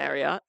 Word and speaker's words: Marriott: it's really that Mar how do you say Marriott Marriot like Chariot and I remember the